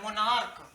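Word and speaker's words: monarch: और एक और वर्ड है मोनार्क, MONA, मोनार्क, NARCH, लेकिन इसका च उच्चारण नहीं हो रहा, मोनार्क हो रहा है।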